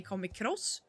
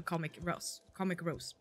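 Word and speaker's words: KomicRose: how to pronounce it, because some say Comic Cross, like a training, like cross training or something. I'm not sure. So I decided to make it easy for people to see how to pronounce it, so Comic Rose, whatever you feel like.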